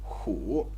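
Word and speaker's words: 虎: tiger the animal tiger and the pronunciation the syllable that it represents is who and in this video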